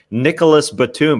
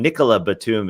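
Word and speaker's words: Nicolas Batum: the pronunciations out he he said nicholas batum but he corrected himself and nicola batum is is how the french would say it so he kept correcting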